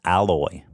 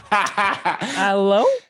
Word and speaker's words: aloe: They made it with alloy. So there you have it, people. Alloy. Yeah, alloy. It smells great. No, not alloy. Aloe?